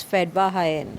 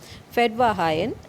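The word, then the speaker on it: Fetvajian: farmer named fedva hayan so this is a armenian word it should be pronounced as fed bahayan okay fed by high end and hit him there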